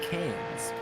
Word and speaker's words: Cairns: But anyway, I do know how to pronounce that place name. It's Cairns.